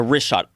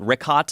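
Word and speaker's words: Richat: The rishot.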